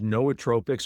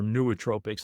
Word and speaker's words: nootropics: There are herbs that are known as nootropics or nootropics. They're both correct pronunciations.